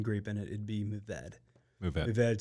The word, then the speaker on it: Mourvèdre: So Mourvèdre. I drop those R's when I pronounce it, kind of like that famous museum in Paris. Yeah. The Louvre. Same deal.